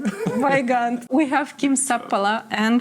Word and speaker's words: Weigandt: Taipale, we have Marko Juroshevich, we have Weingart. Did I say it right? Weigand.